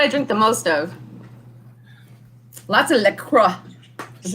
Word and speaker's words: LaCroix: water that's what i drink the most of lots of liquor is how you pronounce it the crotch the crocs so you